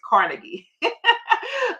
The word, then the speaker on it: Carnegie: he has long gone named Napoleon Hill and he was tutored under um um Andrew Cargi Cargi I think I'm pronouncing that right but the American way we said is Carnegie um so he was